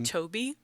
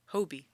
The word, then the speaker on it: Hobie: between G you say Toby yeah isn't that how isn't that how they say his name it's an H not a t Hobie Hobie did I did I